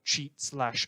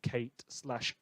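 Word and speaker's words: Cheit: we steal off earth cheat / earth kate / earth kite i've seen a lot of pronunciations listeners I'm sticking with cheat this is a problem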